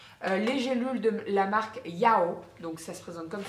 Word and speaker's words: Yao: Sinon, au niveau des autres compléments alimentaires, je teste depuis une quinzaine de jours les gélules de la marque Yao, donc ça se présente comme ceci, ça s'écrit YAW.